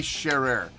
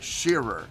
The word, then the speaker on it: Shearer: actually played by uh harry sherrer or shearer i think is how you pronounce his name um there's a lot